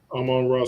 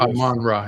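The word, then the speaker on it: Amon-Ra: Aman yeah Aman St Aman ra St Brown Aman ra yeah I always miss that Sy second syllable Aman ra we got go back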